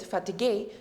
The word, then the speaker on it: fatigué: In French, we just add an accent right over here. So the pronunciation is slightly different, fatigué, but the meaning is exactly the same.